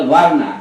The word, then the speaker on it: verna: এই যে ইংরেজিতে লেখেন VERNA, এটা উচ্চারণটা বার্না, এইটা হচ্ছে বাংলা বর্ণ শব্দটার একেবারে অতি বিকৃত রূপ।